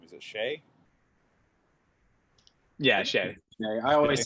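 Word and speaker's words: Shai: of surrounding Giddy and Shay shy I always mispronounce his name is it Shay yeah I always say today but I could see the comedians pronouncing it Shy yeah you know uncultured but um I'm curious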